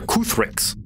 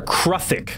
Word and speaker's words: Kruthik: These are Kuthriks. Kuthriks. Or rather, Kruthik. Sorry, that's how it's pronounced.